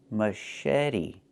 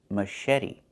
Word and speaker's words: machete: Machete. Machete. The ch makes a soft shh sound like in fish. Mush. And then eddie. The t makes a fast d.